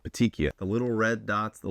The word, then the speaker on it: Petechiae: Cal, if you can put the pronunciation on the screen so everybody knows how to say it. Petechiae. Say it with me. Petechiae. It's kind of like weirdly spelled, but it's not that hard to say.